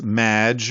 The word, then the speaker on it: Maginot: It's Madge, which rhymes with badge.